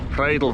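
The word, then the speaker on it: Rheidol: oh good morning from the rle valley sorry ridel Valley this is a proper pronunciation it's Saturday the 2nd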